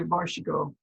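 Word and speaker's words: vær så god: But you say varshigo, and that means there you go.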